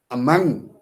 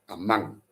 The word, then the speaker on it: among: Among bisyllabic words, and I put the stress on the second syllable, among, among.